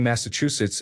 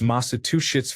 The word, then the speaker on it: Massachusetts: My mom has been pronouncing Massachusetts as Masa two shits for years and no one corrected her because they thought she had strong feelings about the state.